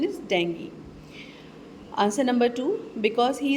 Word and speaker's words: dengue: The correct pronunciation is dengue.